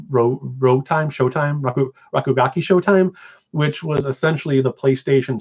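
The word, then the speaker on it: Rakugaki Showtime: you there's shock oh and I can never pronounce it right it's like Chicago ki rogue time show time ooh rakugaki show time which was essentially the PlayStation Smash Brothers um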